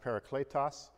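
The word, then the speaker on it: παράκλητος: in Greek it's pronounced Parakletos the English would look like this para and clay toss and para is a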